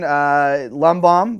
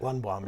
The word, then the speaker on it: Lundbohm: But my guest this week, Lundbohm. Did I say it right? Lundbohm, yeah.